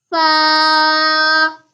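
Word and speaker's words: ف: Fa. Fa comes from the dry portion of lips to pronounce Fa.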